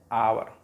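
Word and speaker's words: hour: इसको पढ़ते हैं हावर, नॉट हावर, इसको पढ़ते हैं आवर, घंटा, और बोलते हैं इसको। देखो एच से शुरू होने के बावजूद भी इसका जो उच्चारण है वो ओ से शुरू होगा, ठीक है, पहला लेटर।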